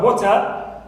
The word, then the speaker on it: water: In the word water, here, wo is my stressed syllable. It's the first one.